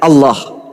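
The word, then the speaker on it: الله: Kalau menggunakan ejaan tajwid, maka bacaannya Allah. Gak ada huruf O di situ.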